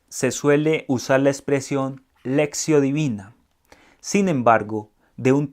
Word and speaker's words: lectio: Pero les decía que el término lectio, algunos lo pronuncian como lección, pero resulta que es lectio, no lección, sino lectio, que lectio va a traducir lectura.